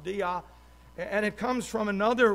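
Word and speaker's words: δεῖ: In English, there's just three letters, D-E-I, and it's pronounced dia.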